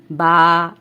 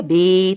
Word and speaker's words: ب: کے مطابق پڑھنا ہے، یعنی با، تا، سا، اور اردو تلفظ سے نہیں پڑھنا۔ اردو تلفظ یہ ہے بے، تے، سے، کیونکہ عربی حروف تہجی میں بڑی یہ کی آواز اے نہیں ہے بلکہ یا ہے، ٹھیک ہے، اس کا